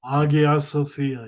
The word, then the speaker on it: Hagia Sophia: Hagia Sophia, yes. Hagia Holy Sophia, that's how you wisdom.